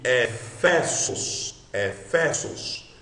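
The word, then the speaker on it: Ἔφεσος: Então, esse iota maiúsculo de Issus, ou de Efesos, lembre-se, S e sigma no grego não tem som de Z, sempre som de S, é Efesos, certo?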